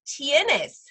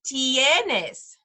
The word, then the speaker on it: tienes: the last phrase is tienes tienes and again look at those vowels tennis has some vowels in it t the I makes the e sound remember so it's tienes do you have so